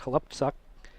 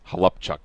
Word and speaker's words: Halupczuk: When I was in Seattle, everybody asked how you say it, and it's Halupczuk, like Upchuck.